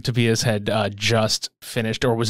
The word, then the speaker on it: Tobias: Tobias? Yes. Tobias Forge? Yeah. Like, it's almost like a and an eh at the same time.